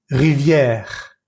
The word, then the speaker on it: rivière: Voy a leer estas palabras lentamente y vas a fijarte que nunca pronuncio la E al final de estas palabras. Table, voiture, pomme, livre, porte, chaise, école, femme, plage, lampe, étoile, planète, lune, rivière, montagne, neige, vague, feuille. En ninguna de estas palabras pronuncié la última E.